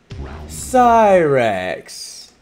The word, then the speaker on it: Cyrax: They say Cyrax.